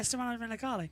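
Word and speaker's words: Stefano Domenicali: Yeah, Stefano Demicali.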